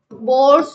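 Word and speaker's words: Bohr: बोर्स model की बात करने जा रहे हैं हम। बोर भी बोलते हैं। बोहर भी बोलते हैं। कई लोग जो भी प्रोनाउंस कर लो आप।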